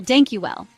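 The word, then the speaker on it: dank je wel: In Dutch, thank you is, well, dank you well. Let's break it down. Dank sounds a bit like the English word donk.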